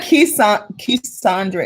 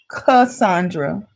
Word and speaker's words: Cassandra: It's not Cassandra, it's Cassandra.